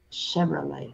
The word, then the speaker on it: Chevrolet: Ahora, esta che no va a ser che, va a ser como una S. Che. Chevrolet. Chevrolet. Ahora es una V. V, v.